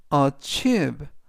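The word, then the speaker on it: achieve: ach a라고 발음하시면 되겠고요 이때 강세는 중간 부분에 있는 아이의 강세가 있습니다 그래서 achive라고 발음하시면 되겠고요 품사는 동사 뜻은 성취하다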